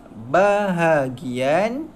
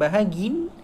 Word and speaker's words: bahagian: Bahagian najis. Semula. Bahagian najis. Okey. Itu cara baca dia, bahagian, bukan bahagin. Ni, bahagian najis.